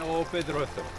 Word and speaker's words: O Pedrouzo: O Pedrouzo.